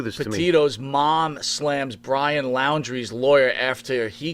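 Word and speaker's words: Laundrie: it's first of all i pronounce his last name laundry as in dirty laundry because he's got plenty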